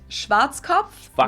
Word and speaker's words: Schwarzkopf: In German, we pronounce it Schwarzkopf, which Schwarzkopf, literally means black head.